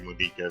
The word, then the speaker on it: Monika: I did realize I was mispronouncing it. It's gotta be Monika, since this is clearly Japanese names.